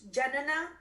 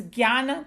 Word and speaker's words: jnana: No, it's Jnana Tapas. Because that's how they say. Tapas. Yeah, Jnana Tapas. Because in like this, and some of the people pronounce it like Gnana bolte hain wo log aise. But that's why they write it like this.